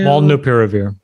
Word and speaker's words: Molnupiravir: Pronounce the name of it. It's Molnupiravir.